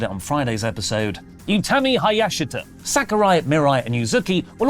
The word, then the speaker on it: Utami Hayashishita: Julia, Mai Sakurai, Mirai, Yuzuki, and SB3's actually written this down for me phonetically after I butchered it on Friday's episode. Utami Hayashita, Sakurai, Mirai, and Yuzuki will all finish up